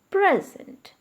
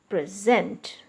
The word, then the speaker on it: present: is a noun so when you are using it as a noun always stress the first part i gave a present okay i gave a present on his birthday when you use it as a verb i gave a sorry i'm present okay i am present in the class so the stress is shifted to the second part when you use it